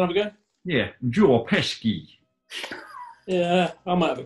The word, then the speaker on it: Pesci: Pesci. Pesci, I'd say. It's a bit more of a sh before the k.